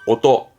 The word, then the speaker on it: 音: 혼자 있으면 뜻으로서는 오또, 오또.